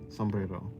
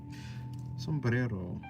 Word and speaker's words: sombrero: Sombrero. See, now I'm rolling my tongue too much. Sombrero. Sombrero. That was better. That was that was good enough. Cuz you don't pronounce the R like that in English.